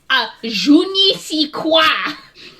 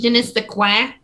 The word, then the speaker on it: je ne sais quoi: I think you're pronouncing it wrong. I think it's je ne sais quoi. Wah. You gotta really get that wah. The wah. Are you sure you have to make the qua sound?